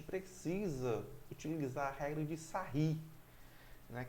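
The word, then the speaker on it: Sarrus: Dessa forma, para calcular esse determinante, a gente precisa utilizar a regra de Sarri, né, que vai se escrever sarros, se escreve sarros, mas a gente lê Sarri, ok?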